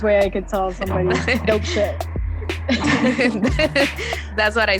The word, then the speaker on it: Dopeché: So it's almost like saying dope shit, but without a T. So that's like the easiest way I could tell somebody dope shit.